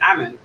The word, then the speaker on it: Amann: might always pronounce here i always say armin but it's ammon i just realized yeah